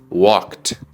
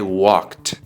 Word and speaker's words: walked: dice I played sigamos al tercer sonido que suena como una t suave se pronuncia como T Por ejemplo yo caminé I walked I walked Tómate un segundito para